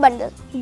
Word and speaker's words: bundle: एन डी एल ई यहां पर समझने की चीज यह है कि ड और ला में स्पेस नहीं है ये दोनों जोड़कर और इकट्ठा प्रोनाउंस होते हैं बंडल न बंडल बी यू एन डी